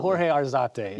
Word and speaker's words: Jorge Arzate: But Jorge Arzate is how you say it, correct?